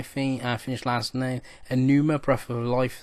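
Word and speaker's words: Pneuma: Then I think I finished last night Enuma Breath of Life. It actually begins with P, but it's Enuma, I think it's pronounced.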